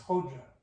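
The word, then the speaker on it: Hoca: What's Hoja? Hajeh was an honorific title. So in the Turkish, that's the way they pronounced it.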